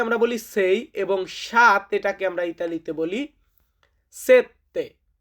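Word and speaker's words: sette: তো ছয় কে আমরা বলি সেই এবং সাত এটাকে আমরা ইতালিতে বলি সেতে। সেতে মানে হচ্ছে সাত।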